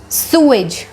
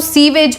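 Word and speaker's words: sewage: सुएज. सुएज यानी सू की एज ऐसे आप याद कर सकते हैं, सुएज. सुएज. इसको सीवेज मत बोलना.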